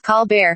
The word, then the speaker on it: Colbert: me French roles … That’s why I used to say my name Col-bert just as it is spelled instead of Col-baire.